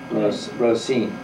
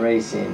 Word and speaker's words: Roseen: a man named walfred Rosine right not rine but Ros that's the accent on the second syllable I remember when he